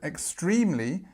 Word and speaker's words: extremely: And this word extremely, if you notice, the e becomes an I, extremely, extremely. And then after that, on this second syllable, we have the stress, so extremely.